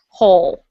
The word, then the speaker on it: whole: everyone repeat after me whole oh good the w is completely silent um has anyone here